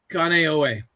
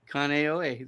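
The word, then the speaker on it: Kāneʻohe: it say it again kanye yeah kaneohe kaneohe there you go it sounds like conair i think uh we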